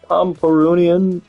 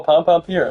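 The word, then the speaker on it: Pompompurin: Like, Pomperunian without the beret.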